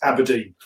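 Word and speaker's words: abrdn: And it's so partly that's the reason, but it is pronounced Aberdeen.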